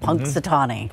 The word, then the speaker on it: Punxsutawney: one name you had to learn how to pronounce right out of the gate Punxsutawney yep all right the Spurs getting ready for